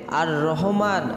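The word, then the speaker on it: الرحيم: আমলটি হচ্ছে মহান রব্বুল আলামিনের গুণবাচক দুটি সিফাতি নাম, নামটির উচ্চারণ হচ্ছে আর রহমান আর রহিম।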